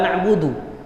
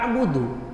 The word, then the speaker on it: na'budu: kita salat nya sendiri Kita bacanya pun kan Tetap iyaka na'budu bukan iyaka abudu iyaka nastainu bukan iaka